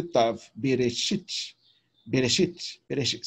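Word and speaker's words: בְּרֵאשִׁית: Aí o shin e o irikiot e o tav, bereshit, bereshit, bereshit. Você fala mais rápido o cheval de bereshit, bereshit, entendeu? Então, o E, ele é bem rapidamente pronunciado.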